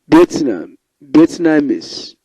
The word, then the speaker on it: Vietnamese: For example, comparable on the first, experience on the second, compensation on the third, Vietnamese on the fourth, humanism, intelligence, agriculture, officialize.